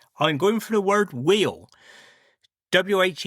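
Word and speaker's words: wheal: For me Cornish word of the week I'm going for the word wheel wh e a l.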